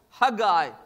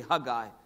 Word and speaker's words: Haggai: as rebuilding is concerned I know we usually pronounce his name as Haggai but it's really huh guy and his name really